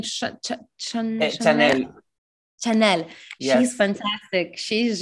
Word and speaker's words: Chanel: No, that she, how to pronounce her name? Chanel.